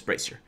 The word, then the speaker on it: Brazier: I think it's Brazier. I think that's the way you should pronounce it. I sometimes like to go to the Google options and just hear it out. Yeah, Brazier. So it's Brazier.